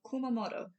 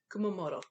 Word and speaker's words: Kumamoto: I was looking at this one oh uh Kumamoto Kumamoto all right so in Kumamoto the hometown of